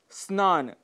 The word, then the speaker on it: स्नान: जैसे स्नान। स्नान इस शब्द के साथ अ कई बार आगे लगा देते हैं, इसे हम स्नान कह बैठते हैं, जिसका अर्थ हो जाता है स्नान न करना।